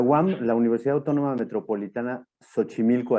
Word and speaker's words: Xochimilco: universidad autónoma metropolitana xochimilco así se pronuncia la equis aquí en méxico tiene varias pronunciaciones se pronuncia como como como che y se pronuncia como ese como con jota también como en el caso de méxico que suena como la jota tiene esas tres pronunciaciones la la xc ppd